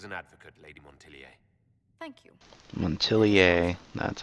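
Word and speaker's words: Montilyet: have you as an advocate lady thank you montelier that's how you say it politics have become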